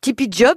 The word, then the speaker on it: TeePy Job: Tipeee Job s'écrit avec 2 E, qui prononcés en anglais font I, et double E pour entreprise, entrepreneur.